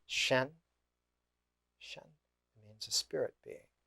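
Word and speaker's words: 神: the ancient Chinese word for that was it's pronounced Shen Shen means a spirit being the Shen is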